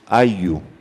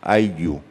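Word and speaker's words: ayllu: It's ayu, that's the way it's pronounced, ayu. It's spelled A-Y-L-L-U. In Spanish, double L is has the sound of a y.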